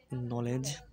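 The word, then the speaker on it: knowledge: উচ্চারণ হবে নদন্ত হবে এক্ষেত্রে কে অর্থাৎ উচ্চারণ হবে না মানে অনুচারিত থাকবে যেমন উদাহরণ ফলো করো নলেজ যেমন জ্ঞান নাইট যেমন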